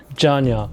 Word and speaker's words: Jeongyeon: Janya. Yeah. It's spelled Jeongyeon.